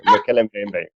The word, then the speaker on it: Mokele-mbembe: Mokele-mbembe? Mokele-mbembe.